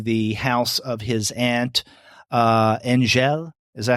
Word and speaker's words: Angèle: Okay, so he's going back to Cambirac, and he at night goes to the house of his aunt, Angèle. Is that how you pronounce her name?